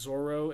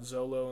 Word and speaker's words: Zoro: I do want to give a shout out to the commenter who told us that it was actually pronounced Zoro and not Zolo and like the weird translation stuff between Japanese and English translations at the time.